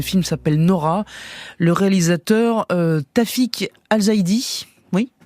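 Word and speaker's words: Tawfik Alzaidi: ce soir le film s'appelle Nora le réalisateur tafic alzidi oui prononcé comme il faut voilà récompensé en mai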